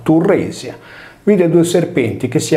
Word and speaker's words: Tiresia: Che vi sia una connessione tra Cillene e il sesso lo rileva Apollodoro quando racconta che un giorno sul monte Cillene Tiresia, pronunciato Turresia, vide due serpenti che si accoppiavano e con il bastone del Tirso o del Turro uccise la femmina.